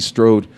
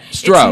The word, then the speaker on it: Stroud: Mother Nancy Strode, and did I pronounce that correctly? No, Stroud.